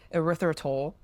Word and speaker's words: erythritol: Because previous clinical work already linked to high blood erythritol.